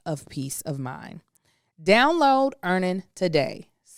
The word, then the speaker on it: Earnin: So an app like EarnIt is something that can really help in that situation.